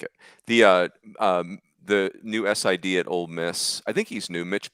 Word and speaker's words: Ole Miss: And by the way, it's also Ole Miss and not Old Miss.